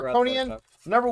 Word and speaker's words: Harkonnen: Yeah, you said it right Harkonian first time.